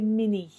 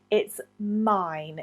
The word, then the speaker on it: mine: And often mine is mispronounced. People say mini. It's not mini. It's mine.